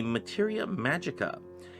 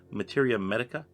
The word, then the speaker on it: materia medica: create my materia medica did i just pronounce that incorrectly materia medica okay that that's what it was supposed to be earlier not magicka anyway let's move on